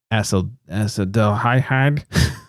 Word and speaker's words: acetaldehyde: As the body naturally breaks down alcohol, it produces the byproduct acetaldehyde, big words, which causes hangovers and can damage the liver.